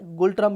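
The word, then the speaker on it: ngultrum: है उसको बोलते हैं न गूल ट्रंप नकुल ट्रंप ऐसे एंड साइलेंट है गोल्डन भी बोल सकते हो आप नकुल ट्रंप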